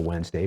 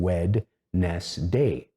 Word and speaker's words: Wednesday: So I learned how to spell Wednesday by going Wed-ness-day. So in that case, I could go, okay, there's a D in there. You don't say it when you're speaking it, but then I could correctly spell it.